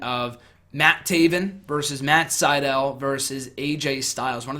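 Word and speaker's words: Sydal: evan bourne now known as men at sitel Seidel will help you pronounce it great show got to meet a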